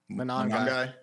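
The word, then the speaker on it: Monangai: How do you pronounce that guy's last name? Monogamy.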